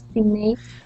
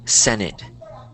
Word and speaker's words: Senate: the senate or the Senate oh okay this word is pronounced senate senate there you go Senate think of it like um sen it so like seen and